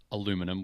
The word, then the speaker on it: aluminum: We don't call it aluminum. We call it aluminium.